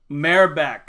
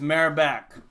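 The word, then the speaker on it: Merab: off I'm gonna wait to hear Bruce Buffer pronounce it mayor back so there it is mayor back twenty seven and for Herb Dean again we'll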